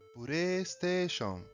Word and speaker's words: PlayStation: A pronúncia de PlayStation em japonês fica PlayStation, muitas vezes encurtado apenas para PST.